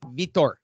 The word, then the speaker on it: Vitor: ripped for vitor and it's pronounced vitor uh the golden boy